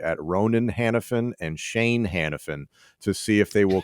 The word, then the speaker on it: Hanafin: fan so hold on a second i'm still pronounced hanafin it's just right it's an ellis island thing